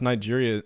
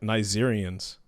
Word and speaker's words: Nigerians: No, but it's not pronounced Nigerians. It's like Nigerians.